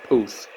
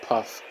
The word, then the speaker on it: Puth: Yes, his name is pronounced Puth. I suppose you could have thought it was pronounced Puff, but Don is right.